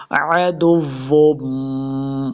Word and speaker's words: عدو: موٹا نہیں پڑھیں گے، عدو، عین کو تلفظ سے پڑھنا ہے، عدو، واو مشدد ہے، دال کو واو کے ساتھ ملانا ہے، عدو، آگے پھر